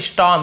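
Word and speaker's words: storm: ठीक है, स्टॉर्म, इसे स्टॉर्म पढ़ते हैं, आर थोड़ा साइलेंट होते हैं, स्टॉर्म इस टाइप से पढ़ते हैं, स्टॉर्म बोलेंगे तो भी सही है।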